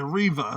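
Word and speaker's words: Rives: Okay, Reva, like Reba McEntire. Yeah, like Reba, it's Reva.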